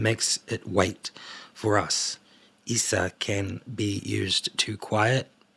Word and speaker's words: Isa: Izza, that's Isa, my bad. They literally tell me how to pronounce it. I love that. So Isa, pronounced Isa, I said Izza, means ice, and is one of the elder Futak.